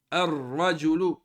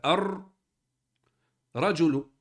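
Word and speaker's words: الرجل: on ditaj arrahman arrahim arrajulu On prononce pas le lem, on rentre directement dans le ra qui a une shaedda.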